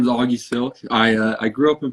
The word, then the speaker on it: Sylk: hq uh with augie silk is that what you say how do you say your last name silk yep so it's like the fabric over the y that is a dope